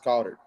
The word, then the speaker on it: Goedert: they don't have Dallas Goedert. It's Dallas Goedert, right? That's how you pronounce it.